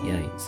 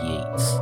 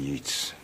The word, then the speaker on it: Yeats: Yeats. Pronouncing that right. In The Stand, the TV version, Ed Harris almost ruined the entire thing by pronouncing it Yeats.